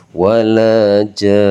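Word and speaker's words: وَلَا جَانّ: Jadi dipanjangkan dulu huruf sebelumnya karena dinamakan huruf mad lazim musqal qolimi sama kayak waladin sama seperti itu teman-teman ya. Nah, ini karena di sini kan walau dolin masih ada huruf setelahnya. Kalau di sini benar-benar disukunkan di akhir kata, jadi harus dibaca wala jan.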